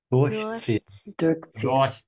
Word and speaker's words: durchziehen: Durchziehen. Sehr gut. And remember to emphasize the prefix because this is a separable verb.